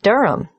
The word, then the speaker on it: Durham: at one uronga Street Durham how do you spell Durham d-u-r-h-a-m of course I should know that but it's just one of those names that sounds quite different from the way you spell it it is confusing I've